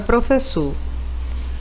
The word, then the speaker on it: professor: E aí eu já tenho várias informações sobre a palavra professor. Eu sei que ela é trissílaba porque ela tem 3 sílabas. Sei que ela é oxítona porque a sílaba mais forte é a última.